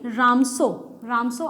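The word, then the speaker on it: Ramsjö: की गई है, वो रामसो ही है, ठीक है। देखो यहाँ पे भी जे साइलेंट है, ठीक है, रामसो जे को प्रोनाउंस नहीं करेंगे, रामसो नहीं है, वो रामसो है, ठीक है।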